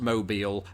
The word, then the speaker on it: Mobile: Unless you're down in Alabama where there's a city spelt exactly the same way, pronounced mobile, and that is why this word makes my brain melt through my nose.